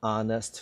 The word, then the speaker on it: honest: explanation the not so honest friend first of all the word honest do not read the h the h is not existent you don't read it it is silent there is no sound coming